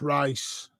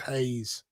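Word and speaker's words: Reis: he's right footed what's rice re rice he's I've been told by the way put in Brazilian it's pronounced Haze yeah it's like it's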